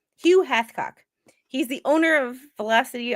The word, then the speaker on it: Hathcock: Hath. H-A-T-H. Chicken. You're going to change it now. Like Gamecock? It's Hathcock. Hugh Hathcock.